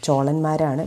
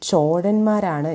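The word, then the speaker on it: ചോഴന്മാർ: അതിൽ ഈ ചോഴ രാജവംശം, ചോളന്മാരാണ്, പക്ഷേ യഥാർത്ഥത്തിൽ അതിൻ്റെ ഉച്ചാരണം ചോഴന്മാരാണ് എന്ന് കേൾക്കുന്നു.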